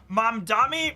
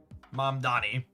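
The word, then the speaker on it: Mamdani: I'll I'll I need to spend a little bit effort to make sure I understand how to pronounce I think it's ma mam dami.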